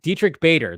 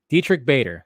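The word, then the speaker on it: Diedrich Bader: I could never say his name though Dietrich Dietrich Bader there you go Dietrich Bader there you go or is it Baker Bader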